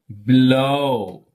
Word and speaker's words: below: Below. Below. Below. Degree. Degree. Degree. That is this. Okay. So, for disyllabic means two syllables.